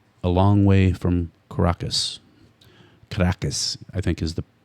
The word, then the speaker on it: Caracas: Caracas, I think, is the correct pronunciation.